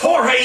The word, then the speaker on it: Jorge: Is George present? He asked. IT AIN'T GEORGE. IT'S JORGE. YOU LIKE YOUR MOTHER. SAY IT RIGHT.